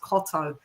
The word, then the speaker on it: Cotto: at his name and it is TT O so it is supposed to be pronounced Cotto Cotto would be C O T O but yeah shouts out.